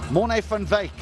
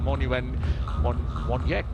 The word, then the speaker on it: Morne van Wyk: So the W is pronounced V. A bit on the flip side to what you do here in Sri Lanka, where the V is the W.